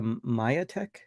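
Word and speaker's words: Majetek: My AD was saying you don't pronounce it that way. It's the Mayatech. The J is Y.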